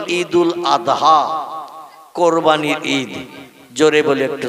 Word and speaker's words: ঈদুল আদহা: ঠিক তদ্রূপ ঈদুল আদহা এ শব্দটা হলো শেষে দোয়াত উচ্চারণ করতে হয়, কিন্তু ওরা বলে ঈদুল আজহা। কি বলে? মানে জয় অক্ষর উচ্চারণের মতো আওয়াজ করে বলে। আমরা বলি ঈদুল আদহা, কোরবানির ঈদ।